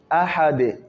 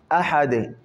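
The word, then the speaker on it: أَحَدٌ: Ahad. Ahad. Pas aha. On ne met pas shida sur les ha. Aha. Ahad.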